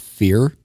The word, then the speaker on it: Fier: Am I pronouncing that right, Rick? I always pronounced it fear.